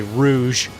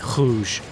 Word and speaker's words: rouge: The easiest way for Americans to pronounce the R is to kind of pronounce it like it's an H. Mm-hmm. Like their word for red is, you would say rouge, but in French it's more like rouge.